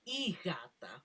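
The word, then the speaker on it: η γάτα: It's actually, well, the correct way to say it is igata, which means the cat in Greek.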